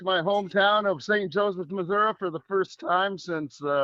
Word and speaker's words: Missouri: It's Missouri.